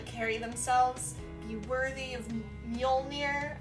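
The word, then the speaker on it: Mjölnir: themselves, be worthy of Mjolnir, I'm pretty sure is how you say it.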